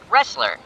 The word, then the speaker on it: wrestler: The word has the letter R, but it has a silent letter before it.